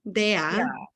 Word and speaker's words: Dea: Actually, would you pronounce it the Italian way? Then it goes dia, dea, which actually means the queen.